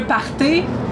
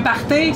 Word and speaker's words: party: Il faut savoir qu'un party, avec un R français et un E accent aigu, un party, c'est une fête.